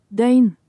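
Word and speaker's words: døgn: Dane. Dane. Dane. I forgot it has a pronunciation tool.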